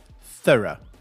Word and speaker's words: thorough: The first word I'm going to spell is T-H-O-R-O-U-G-H. What's that word? Thorough. Thorough is the correct pronunciation. That's the British pronunciation, the correct one. In America, they say thorough, but I don't.